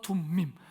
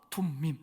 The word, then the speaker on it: 둠밈: 우림과 둠밈, 자꾸 우림과 둠림이라고 되더라고요. 우림과 둠밈, 한번 따라 합시다.